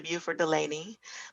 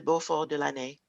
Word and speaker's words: Buford Delaney: to French people, I will say Les Amis de Beaufort de l'Année. And sometimes Buford would use the French pronunciation of it. It would just depend on who he was talking to.